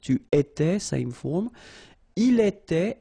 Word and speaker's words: il était: Il était, elle était, final T not pronounced.